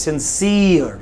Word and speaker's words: sincere: silent, silent, sincere, No, it's sincere, not sincere. It is sincere.